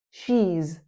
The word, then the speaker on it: she's: She is. She's She's sounds like cheese.